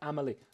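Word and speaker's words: Amélie: in the mm-hmm 1700s and yes Emily it's pronounced Amelie it's like um this you know um with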